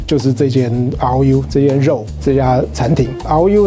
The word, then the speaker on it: RÒU: Tai-Chu, took was this RÒU, this meat RÒU, this restaurant. RÒU is pronounced the same as the word for meat.